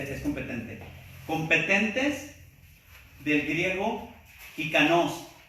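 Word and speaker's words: ἱκανός: Competentes del griego hikanos, así como jícama, pero con la K. J-I-K-A-N-O-S. Le pueden poner acento en la O.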